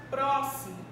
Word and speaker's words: próximo: Eu tenho também a palavra próximo. Próximo. Palavra próximo. Eu vou perceber qual é a minha sílaba tônica. É aquela que possui justamente o som aberto. Próximo. Então, vou acentuar justamente com o acento agudo.